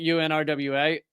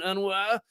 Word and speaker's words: UNRWA: You probably know the beginning of this, and I was pronouncing it UNRWA. Apparently, those in the know, the cool kids who spend a lot of time around UNRWA, pronounce it UNRWA. Now, I'm sure that they're pronouncing the R, and I'm incapable of doing that. UNRWA. I can't do it, so I'm saying UNRWA. Anyway, it is a UN.